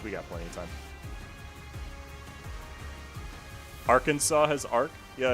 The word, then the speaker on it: Arkansas: It's not our Kansas. Contrary to popular belief, it's Kansas and Arkansas.